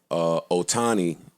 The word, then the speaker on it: Ohtani: And they didn't ask him, but the question on First Take was, do you feel that Ohtani, is that his name? I believe so. Do you feel That's how you pronounce it.